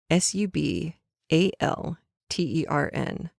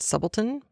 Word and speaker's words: subaltern: stumbled over was subaltern su b al ter n it looks like sub altern but it can be pronounced sub alton or subaltern and it is an